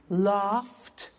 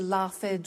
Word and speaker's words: laughed: pronounce the T danced laughed washed and walked okay now the temptation is to say watch it Dan said the laughs ed wash it but we eliminate the e and we add T okay watched danced good the